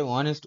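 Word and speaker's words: honest: কারণ অনেস্ট, অনেস্ট এর এইচটা কিন্তু আমাদের কনসোনেন্ট হওয়া সত্ত্বেও এটা ভাওয়েলের মতো উচ্চারণ হচ্ছে, ওই জন্য আমরা এখানে এ লিখবো না, অ্যান লিখব।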